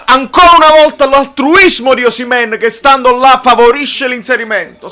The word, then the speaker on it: Osimhen: Bravo Osimhen. Ragazzi, noi lo sappiamo che ci piace di più dire Osimè con l'accento sulla E. Però si dice Osimhen, se l'ha detto il fratello, si dice Osimhen.